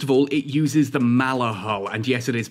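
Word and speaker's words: Maller: First of all, it uses the Mala hull, and yes, it is pronounced Mala, a hull that I think looks absolutely stunning,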